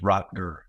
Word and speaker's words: Rotger: And pronunciation is Rotger.